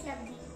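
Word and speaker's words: Labdhi: Hi, my name is Labdi. Labdi. Labdi. Labdi's. Did I? Labdi. It's a very difficult name. Labdi. Spell it out.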